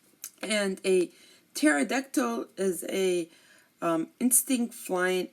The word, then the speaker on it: pterodactyl: hard but tctl okay we do not pronounce the P here and a pterodactyl is a um Instinct